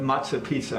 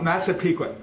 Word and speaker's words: Massapequa: her spelling on that we often call it matzah pizza i'm not supposed to say that uh massa piqua m michael a s